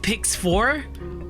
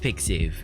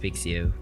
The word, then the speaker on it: pixiv: Wait, it's not pronounced Pix 4? Wait. What? Why not P94? Why not P94? Also, hi Palucci, how you doing? Okay, Marky swears it's pronounced Pixiv.